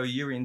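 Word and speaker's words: Jurriën: That is Urian. It is Urian Timber. I'm sure it is. It is. Yeah, but it's spelled with a J, isn't it?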